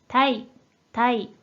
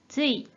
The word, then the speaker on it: 対: 자, 이 한자 뜻으로는 발음이 없고 음으로만 たい、たい、 혹은 つい、 로도 읽기는 하는데 실제로는 거의 쓰인 일이 없기 때문에 여기서는 생략하기로 할게요.